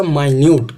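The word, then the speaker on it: minute: अभी देखना, इसके अंदर प्रोनाउंसिएशन मेरा डिफरेंट आएगा। देयर वॉज अ माइन्यूट, क्या? माइन्यूट whole in the dress.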